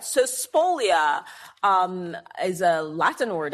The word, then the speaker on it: spolia: said it out loud but is Splolia. Spolia. Yes.